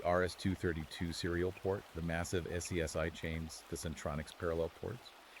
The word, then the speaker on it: SCSI: For those who don't remember, SCSI pronounced SCSI was a way to daisychain multiple external hard drives or scanners together, but it wasn't plug-andplay.